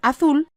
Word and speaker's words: azul: Como puede verse, la palabra azul, que tiene las sílabas azul, no presenta tilde, pero sí está acentuada en su última sílaba, zul.